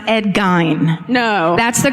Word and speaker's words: Gein: Yeah, it's Gein.